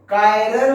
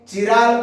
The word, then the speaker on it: chiral: कायरल carbon. कायरल carbon, कोई pronounce में चिराल carbon ऐसे भी बोल देता।